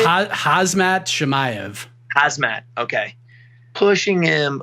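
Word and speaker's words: Khamzat: say that again how do you say hazmat hazmat okay pushing him like crazy and i know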